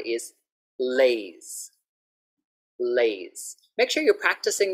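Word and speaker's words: Lay's: So very important to get the L sound clearly and to also have the S on the end. Lays, lays, okay?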